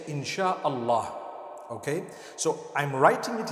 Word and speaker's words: In Syaa Allah: s-y-a they pronounce it they pronounce the s-y the way we pronounce s-h so they can write